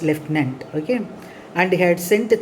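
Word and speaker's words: lieutenant: n t that has to be pronounced as leftenant okay and he had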